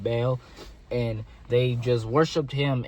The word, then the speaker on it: Baal: They worshiped Baal. That's how you say it, Baal.